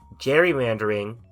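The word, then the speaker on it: gerrymandering: don't even know where this fits in so Jerry mandering yes that's how you pronounce it is when instead of the people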